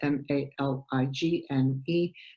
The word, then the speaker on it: Maligne: It's spelled M-A-L-I-G-N-E, but pronounced Maligne, and that's what we're going to do today.